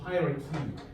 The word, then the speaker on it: hierarchy: Cultures with low acceptance of power distance allow more be within the social hierarchy.